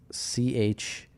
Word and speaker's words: Scheuer: Shower says this is making me hungry. Ooh. Or Schuer. I'm sorry if I'm pronouncing your name wrong. It's Scheuer.